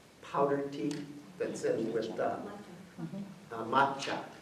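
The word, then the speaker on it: 抹茶: And it was the Song Dynasty style of making tea, which is the powdered tea that's in with macha in the Japanese pronunciation.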